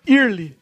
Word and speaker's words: Earl: Eu sempre falei o nome desse jogo como Toe Jam Early. E Early. até hoje eu leio esse nome como Early. Que é, Earl. como é que é a pronúncia certa? Earl. Earl.